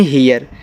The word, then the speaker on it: hear: HEAR इसको पढ़ते हैं हीयर। देखो जब EA के बाद R लगा हो तो EAR को ईयर पढ़ते हैं, तो इससे आपका हा